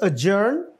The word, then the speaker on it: adjourn: अब ये जो D और J है ना, इसमें D silent होता है, you know. So it is adjourn, adjacent, adjustment, और अगला